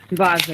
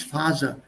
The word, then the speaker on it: Vase: Vase, ja. Das ist Fur, hier. Fur. Und das ist W ausgesprochen. Nicht Phase.